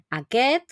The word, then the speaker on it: aquest: esta s entre medio la s anterior a la t no la solemos pronunciar No aquet aqus pero en el